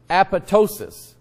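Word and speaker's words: apoptosis: is and it's pronounced Apatow sious the P is site the second P is silent like in the word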